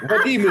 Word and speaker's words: Vadim: Hey, you know I've been called Zadim. Hadim. Sadim. Whatever. Vadim is my name.